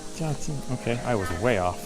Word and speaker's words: Zhaoqing: Zhaoqing. Zhaoqing.